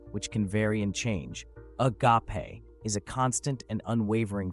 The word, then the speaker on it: agape: To understand the Babel Event, we also need to explore the concept of the Greek word spelled agape, but pronounced more like a-pe for context.